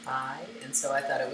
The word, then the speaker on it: pai: I was just reading pie as the end of magpie, and then the root was PAI, which would be pronounced pie, and so I thought it was a fun little pie thing.